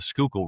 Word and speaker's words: Schuylkill: So, from the Delaware River to what we pronounce the Schuylkill River.